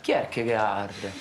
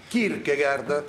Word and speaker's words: Kierkegaard: Che si pronuncia? Kierkegaard. Kierkegaard.